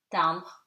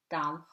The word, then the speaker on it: timbre: M before a consonant and at the end of the word becomes nasal. It's kind of, as I've always told you, it's kind of eaten, right? So becomes nom, second name, timbre, timbre, stamp, and lampe, lamp. Double M, when it's double,